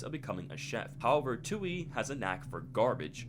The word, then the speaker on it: Touille: When reading Touille's character description, it says Touille, it's pronounced Touille, is a self-proclaimed trash rodent.